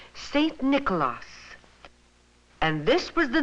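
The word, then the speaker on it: Sint Nicolaas: The Dutch people pronounced his name Saint Nicolaas, and this was the name they brought with them when they settled in New York.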